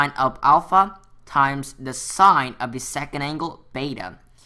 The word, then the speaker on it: sine: So sine, we call it as sin, just like how the writing is pronounced.